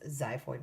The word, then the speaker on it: xiphoid: It starts with the letter X, but it's pronounced xiphoid process.